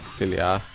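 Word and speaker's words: Xillia: Xilia.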